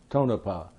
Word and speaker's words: Tonopah: So, how long were you there at, how do you pronounce that name again? Tonopah? Tonopah.